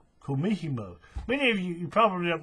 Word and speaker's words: kumihimo: They'll use a, how do you say it? Kumihimo, I think. Disc. Hang on, I'll tell you. Give me a second. I know that. Kumihimo.